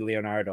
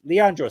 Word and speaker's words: Leandro: Silva I can say I almost said Leonardo so I was going to say I could say that name but I almost didn't say it right Leandro Silva 3 five in